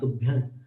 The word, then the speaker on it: तुभ्यं: तुभ्यं नमस्त्रिभुवनात् तुभ्यं, ऐसे नासिका से एकदम अपन उसको डिफाइन नहीं कर सकते कि कैसे कर रहे हैं, लेकिन नाक में वो उच्चारण हो जाता है। तुभ्यं तुभ्यं, म नहीं बोलते हैं।